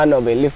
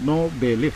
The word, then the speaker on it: Nobeleaf: Berarti bacanya itu no belief. Nobel leaf. No belief. Soalnya kan dari dulu waktu sering dapat event sepanggung makanya kan aku sebutnya cuma no belief.